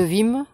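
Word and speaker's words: Wismes: Alors il est placé sous le prunier sanguine de Vim, qui est un prunier très hâtif. Alors Vim, ça s'écrit W-I-S-M-E-S.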